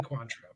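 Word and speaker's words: Cointreau: never know how to pronounce this it's either coentro or quantro I don't know how to pronounce it quantro definitely quantro I've been pronouncing wrong there for so long that's fine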